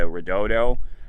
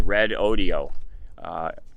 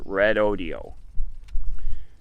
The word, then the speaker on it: Redodo: I was mispronouncing the company name, the Redodo. It is Red Audio. It's spelled R-E-D-O-D-O, but they say it's pronounced Red Audio. So they sent me a little video clip. Hello, Red Audio.